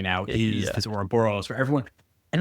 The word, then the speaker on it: Ouroboros: And is that like, because I have this on my notes, the how do you say that? The Ouroboros? The Ouroboros, yeah.